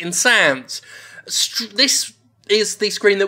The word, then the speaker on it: Insanz: Uh, I believe they meant to call it something like Insanes, but it's spelled Insands, so I'm going to bloody pronounce it insans.